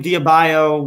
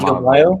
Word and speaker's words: Adebayo: No, you're saying Bam Diabayo was Bam Adebayo?